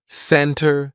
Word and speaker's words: center: at the silent T usually if the t comes after an N we drop that t and we do not pronounce it Center Center no it's not center it's almost like we're spelling it c n n r Center I'll meet you in the center of town not Center how many